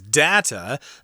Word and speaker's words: data: Yes, we just love that data. Some people pronounce that word as data. Both are correct.